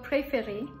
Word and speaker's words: préférer: In the first E, every time you're pronouncing it as A. Therefore, it is becoming pré. So that's why you're putting the accent aigu.